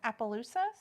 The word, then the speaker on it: Appaloosas: said I love um I always have trouble pronouncing this Appaloosas I say that right yeah they're sweet yeah